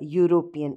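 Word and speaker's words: European: यहां पर आएगा अ देखने में हमें ऐसा लग रहा है कि यह वावेल है लेकिन यह क्योंकि इसका उच्चारण है य यूरोपियन इसलिए अ आएगा आई एम नॉट गोइंग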